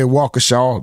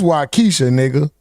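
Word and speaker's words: Waukesha: He can say walkershaw. That's wisha, W A U K E S H A Walka.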